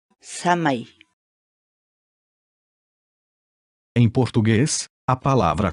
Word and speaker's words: samay: uma série vídeos onde nós ensinamos você a pronunciar determinadas palavras em Quechua portanto a nossa palavra do dia para hoje é Já chamei Já chamei Já chamei fala em português a palavra quichua chamei significa